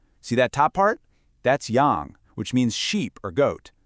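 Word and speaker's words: 羊: That's Yang, which means sheep or goat.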